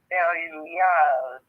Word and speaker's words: Belial: So the pronunciation would be Belial. Almost like it's two words, like Belial.